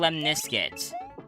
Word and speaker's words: lemniscate: Oh, it's called a lemniscate. I just thought of it. A lemniscate. What? A lemniscate. That sounds like you combine the word lemon and biscuit.